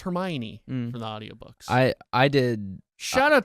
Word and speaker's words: Hermione: is yeah you can you could pronounce Hermione her her me one four three books if